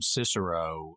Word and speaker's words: Cicero: I like that they pronounced her name Cicero the classic English pronunciation of that Latin name instead of forcing on it the German asked modern kicker Oh pronunciation right but so she